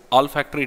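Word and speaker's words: olfactory: send technology all are all factory technology we pronounce it as all factory technology remember it is not Oh L it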